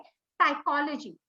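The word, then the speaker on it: psychology: अंग्रेजी का शब्द है साइकोलॉजी। आप देखिए, जब इसका आप उच्चारण करते हैं, इसमें पी साइलेंट है, तो फिर यहाँ पी लिखने का उद्देश्य क्या है?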